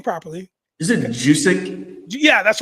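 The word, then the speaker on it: Juszczyk: Is it Juic? Yeah, that's right. Kyle Juic.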